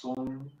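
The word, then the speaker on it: soong: The sound is spelled S-O-O-N-G. It's pronounced song.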